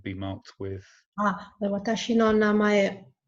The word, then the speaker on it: namae: Namae. Namae. It's really close to the English, actually.